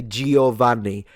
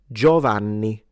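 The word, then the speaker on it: Giovanni: Don't lie to me because you all say Gioani. The I is not pronounced. It's Joanni. Joanni.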